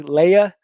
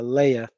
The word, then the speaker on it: Leia: Leia, not Leah, Leia.